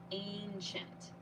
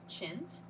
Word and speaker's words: ancient: pyramid of course ancient notice this pronunciation ancient chint this last part here is pronounced chent Ancient Ancient Egyptians repeat